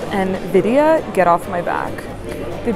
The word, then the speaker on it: Nvidia: organizations here we have Nevada I'm just kidding about Nevada I know I made that I mispronounced it in my last video I know it's called Nvidia get off my back